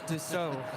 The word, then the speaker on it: Dassault: Okay, 5410, cross It's 24 not left, pronounced follow your Dassault. company, Echo. It's Dassault.